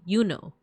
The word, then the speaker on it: Juno: It wouldn't have been pronounced Juno. It would have been Yuno.